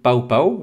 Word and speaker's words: Pow Pow: On est aujourd'hui avec Luc Bossé, éditeur et créateur des éditions Pao Pao. Alors, il faut bien prononcer Pao Pao, et non pas Popo à la française.